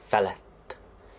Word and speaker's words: felett: And with fölött, you can also pronounce it felett, because that's fun.